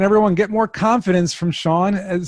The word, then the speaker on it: Sean: Sean is spelled the proper Irish way, S-E-A-N, just like Connery, Nice.